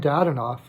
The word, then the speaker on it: Dadonov: Maybe they'll give him a shot, especially since if they're not going to sign Dadonov, actually is how it's said, I guess Owen Tippett's going to go.